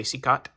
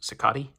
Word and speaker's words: Cicotte: I say Cicotte. I've heard it pronounced Cicotte. Seacoat, whatever, Knuckles.